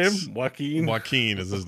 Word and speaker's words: Joaquin: Joaquin. Joaquin is his name, but I like Joaquin. I like Whack'em.